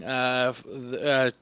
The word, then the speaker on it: Chhaya: Chaya, okay, that's spelled Chhaya.